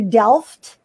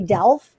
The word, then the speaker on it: Delft: In the United States say Delft because in English we think the T is silent. It's not here in the Netherlands.